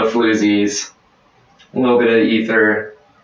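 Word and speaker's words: Aether: But as far as, like, down-tempo stuff, Emancipator, Ether, I don't know how to pronounce it. It's A-E-T-H-E-R. I think it's Ether. It's Ether.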